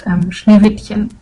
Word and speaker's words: Schneewittchen: inner Hermione and tell me that it's actually pronounced Schneewittchen.